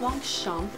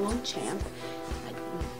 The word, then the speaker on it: Longchamp: So it is my red Longchamp, and yes, it's pronounced Longchamp, not Longchamp.